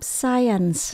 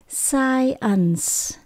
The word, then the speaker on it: science: math Kế đến mình có môn khoa học science tận cùng có c đọc là s science science Chúng ta đọc nguyên câu nhé I